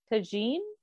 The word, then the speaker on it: tagine: Can I ask, where is chicken tagine? Is that how it's pronounced?